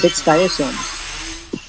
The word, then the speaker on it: dictyosome: This is dictyosome.